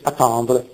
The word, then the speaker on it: attendre: probabilmente anche prima le le doppie le geminate sono scritte ma non pronunciate quindi in francese la parola italiana è apportare con la germinata come in latino apportare in francese è apporté ancora a tendre attre c'è sono due t in italiano attendere da ad più tendere però in francese si dice attendre con una t sola però non negli altri